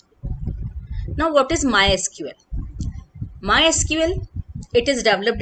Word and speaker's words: MySQL: माई एसक्यूएल is pronounced as माई एसक्यूएल, बट इट is also called my sequel.